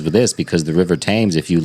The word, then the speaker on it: Thames: The Thames. The Thames. That's what it is? Okay. River Thames, I yeah. thought it was Thames. It's spelt like that, but you know how Yeah. British people pronounce shit.